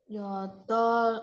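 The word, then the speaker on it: 여덟: Nah, di sini juga karena ada 2 bacim ya. Ini bacimnya ada 2, tapi bukan berarti dua-duanya dibaca ya. Dua-duanya nggak dibaca ya, udah dibahas juga nggak sih? Nah, ini ada 2 bacim, tapi karena real, kan ada bacimnya real sama build. Karena realnya muncul pertama di apa tuh? Ganadara Mabasa ya. Ganadara real tuh muncul paling pertama, jadi dibacanya real ya.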